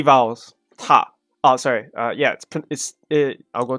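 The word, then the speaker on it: た: Ta. Oh, sorry. Yeah, I'll go through in a minute, but it's pronounced.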